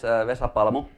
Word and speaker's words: Vesa Palmo: So, my name is Vesa Palmo. That's the proper way to pronounce it.